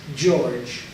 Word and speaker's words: George: Amina here and not even though it's written in Hebrew gorg it's pronounced George so that's the best